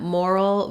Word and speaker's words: moral: And these words have the same sounds except that mortal has a flap T and moral does not. So they both have first syllable stress. Letters OR say or. So it's just like the word more plus a syllable that has basically an L sound. So I've written it here, moral, with a schwa, moral. You basically are going from that more into the dark syllabic L, moral, roll.